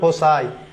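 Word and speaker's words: fossae: দেখেন এর উচ্চারণ কিন্তু ফসি না অনেকে মনে করে এর উচ্চারণ ফস হবে এর উচ্চারণ হবে ফোসাই এইযে যেমন এলাম নাই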